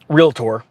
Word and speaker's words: realtor: in Damages after major realator form uh realtor I always mispronounce it I'm a I was